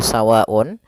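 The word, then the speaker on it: سَوَاءٌ: Ya, maka yang pertama kita jelaskan dahulu yang pada lafal sawa'un. Sawa'un di sini ada hukum tajwid berupa mad wajib muttasil. Maka ketika kita mendapati bacanya seperti ini kita harus panjangkan sepanjang 4 harokat apabila kita bertemu mad ketemu dengan hamzah.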